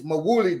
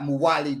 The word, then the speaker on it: Mawuli: And it's Mawuli Davis, not Muwali Davis. for some of my comrades on here who've been saying his name wrong.